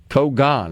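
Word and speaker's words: cogon: Kogan is the way they pronounce it here in this pronunciation little helper. Which goes back to the pronunciation helper we got on the text line that said pronounce it like proton.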